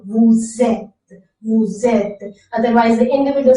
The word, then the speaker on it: vous êtes: And why we are pronouncing vous êtes again? So there is E is a vowel, so that vowel sound must be connected with the previous consonant sound. So that's why there is a linking of the vowel and the consonant sound.